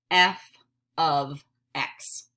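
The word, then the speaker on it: f(x): is the hardest part this is pronounced f of X we do not say F times X because it's not we do not say F parenthesis X no way we say f of X can you practice saying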